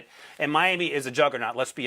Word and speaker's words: Miami: one town in Oklahoma spelled Miami and it's pronounced Miami so there you go uh I don't know